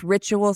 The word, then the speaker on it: Rituil: That's Rituil spelled Rituil. And we'll talk about why it's spelled that way in the episode.